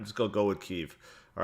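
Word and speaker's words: Kyiv: is day three and ke or Kiev interesting enough I always thought it's called Kiev and then uh I noticed people in Ukraine call keev and then I see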